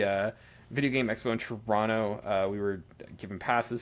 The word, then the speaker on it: Toronto: It's Toronto, not Toronto as a lot of people try to say.